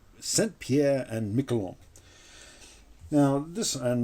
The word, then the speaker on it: Saint-Pierre: one this is from another french person called saint pierre senpier and michelong now this and now you notice